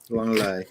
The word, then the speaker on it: Lenglet: Langley, I think. Langley. Clément Langley. Langley.